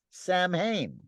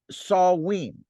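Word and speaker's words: Samhain: October 31st was a night of Terror called Sam Hayne and we've been covering that now or saw we is how you pronounce it you spell it Sam Ha i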